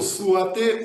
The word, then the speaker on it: souhaiter: Encore, souhaiter ou souhaiter? Souhaiter. Souhaiter ou souhaiter? Comment prononcer correctement? Souhaiter. Нет, souhaiter. Souhaiter, très bien. Je suis d'accord avec vous. Vous avez dit correctement.